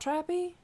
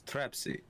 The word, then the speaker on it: Trapsy: purpose i'm very confused is it not trappy it's trapsy trapsy do you think you